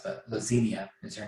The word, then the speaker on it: Lazinia: vampire got into him uh how do you spell that by the way l-a-z-i-n-i-a-s or well no s but lassenia is her name so lazinia's ring i think